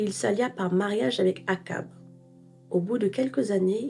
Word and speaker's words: Achab: En français, le roi d'Israël s'appelle Akab, même si ça s'écrit Achab, alors qu'en anglais, il est marqué Ahab.